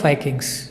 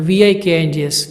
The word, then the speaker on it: Vikings: Usually, when it is in the English class, when we talk about the Vikings, the pronunciation is wrong. It's not Vikings, it's Vikings.